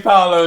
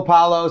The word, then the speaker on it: Paolo: We got GIANNI PAOLO in the place, man. Hey, man. Thank you How for was the coming through. pronunciation? Yeah, it's good. It's perfect. Yeah. Sometimes Paolo, Paulo.